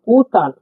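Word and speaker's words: Отан: ওকে ওই উচ্চারণ করে থাকি আমরা। সিমিলার আমরা উদাহরণ দেখছি একটি, ওতান।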